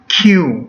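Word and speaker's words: क्यों: cupta Mengapa adalah hiu jadi pengucapannya seperti begini hiu Hai yang untuk lebih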